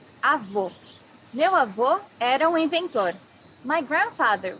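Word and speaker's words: avó: also say grandmother here need to hear the sound of the last o in the syllable it should be an open o as the same portuguese delicioso my grandmother makes a delicious cake avo grandfather can you hear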